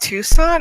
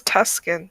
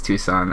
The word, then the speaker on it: Tucson: It's pronounced Tucson. I thought it's Tuscan. Nope, it's Tucson, and everyone that pronounces it Tuscan is wrong.